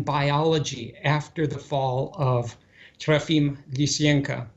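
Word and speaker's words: Trofim Lysenko: after the fall of trafim licienca i give him the russian pronunciation of his name because i um i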